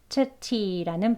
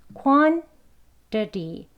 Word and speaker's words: quantity: 역시 이 quantity라는 발음 역시 이젠 여기 flap t가 두 개나 들어갔어요. 그죠? 저희 아까 flap t 배웠으니까 quantity, 예, quantity라고 발음되겠죠.